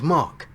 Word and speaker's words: Mark: not in my accent so in their accent they don't pronounce the r that sounds like Ma or something like that so yeah the first